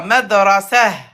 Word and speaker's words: مدرسة: Pas ha, c'est ha avec soukoun. مدرسة. Voilà. Madrasah.